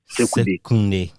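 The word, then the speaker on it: Sekondi: And I learned even to pronounce secondary in the indigenous way. I never said secondary on there. I always say Sekunde.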